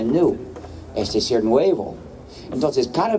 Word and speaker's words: GNU: juegos de palabras, porque según el diccionario la G es muda. La palabra supuestamente se pronuncia new, es decir, nuevo.